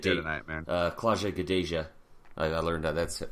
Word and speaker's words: Gadelha: Claudia Gadelha. I learned that. That's how you pronounce it.